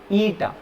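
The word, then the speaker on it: η: लेग बड़ा होगा, ईटा, इसको प्रोनाउंस करवाएंगे ईटा।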